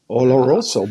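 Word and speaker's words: oloroso: in ol Roo Sherry we got to teach you how to say it say it Oro oroso but when you say you get deep into you get deep into the rolling of the ARs I like it yes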